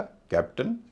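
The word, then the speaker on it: captain: तो यहां पर ए आई का उच्चारण ए ना हो के अ या इ होगा। इसे बोला जाएगा कैप्टन या कैप्टेन। इसी तरह एम ओ यू एन टी ए आई एन।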